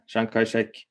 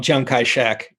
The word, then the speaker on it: Chiang Kai-shek: big guy on the block was another guy shankarachik or how do you pronounce it and how do you see it's